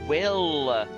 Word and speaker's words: Will: Everybody keeps mispronouncing my name. It's Will. Not, you know, not him.